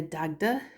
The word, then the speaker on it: Dagda: Ahar Gia Dagda.